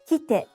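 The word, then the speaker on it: 来て: The next pair is kite and kitte. Kite means come and is pronounced in 2 syllables.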